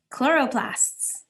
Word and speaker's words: chloroplast: going to look like chloroplasts those are the little green dots we just saw in the picture and here's another science word where we don't say the CH we say it like okay chloroplast it's a place where